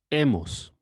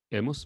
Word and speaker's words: hemos: Notice that we don't pronounce the H in the middle. Another example is E. E. Hemos.